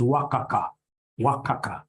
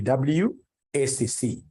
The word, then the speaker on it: WACC: companies you'll get somebody instead of pronouncing this thing professionally as WACC you'll get somebody calling it waka waka no no no that's very unprofessional it's supposed to be wcc is supposed to be